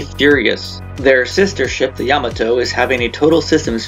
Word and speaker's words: Yamato: lost since they call the ship Yamato when in Japanese is really pronounced Yamato hopefully 300 years in